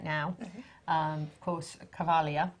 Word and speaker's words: Cavalia: It's Cavalia. It's such a romantic name. And then J'adore. It's also lovely, what do you have lovely named horses? Cavalia is 14.